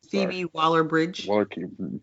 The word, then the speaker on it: Phoebe Waller-Bridge: How you say it? It's Phoebe. Phoebe Waller-Bridge. Phoebe Waller-Bridge.